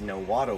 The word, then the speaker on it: Nahuatl: But in total, the name actually comes from an indigenous language found in Mexico called Nahuatl. Or other people pronounce it as Nahuatl with that TL sound.